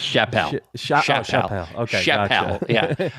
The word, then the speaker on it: Chappelle: His name's pronounced Chappelle.